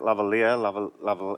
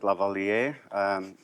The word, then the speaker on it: lavalier: Okay, so as you said, there's a few ways to pronounce it: lavalier, lavalier.